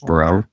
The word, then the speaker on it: Braud: It's it's Cajun, so it's Braud is the way that it's spelled, but it's pronounced Braud. It's like Breaux.